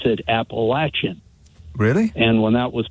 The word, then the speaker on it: Appalachian: came on and he said here at the Appalachian Power company we're here to serve you or something like that and all the people in Virginia said Appalachian where's that because they pronounce it appalachin really and when that was pointed out to